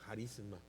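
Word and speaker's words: χάρισμα: dones espirituales se escribe dones se escribe carisma, o sea, se lee carisma en griego, se escribe de otra forma. En algunos casos se dice jisma, carisma. Harisma.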